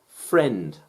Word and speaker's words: friend: Friend, friend. These letters can sound like the vowel E, and it's one syllable.